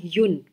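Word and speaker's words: Jung: सो जो वर्ड है Karl युंग, Karl युन, मतलब ना जे हम प्रोनाउंस करते हैं ना जी प्रोनाउंस करते हैं हम, युन, यू एन, कार्ल युन। ये इनके नाम का प्रोनाउंसिएशन है।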